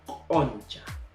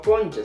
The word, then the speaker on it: oncha: Y por último 15 vendría a ser oncha. Oncha, no concha, sino oncha.